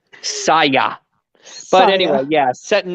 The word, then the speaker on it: Saya: ahead while somebody like soya is staying in this present that's how you say her name no I'm sorry how do you say her name say yes Saya but anyway yeah set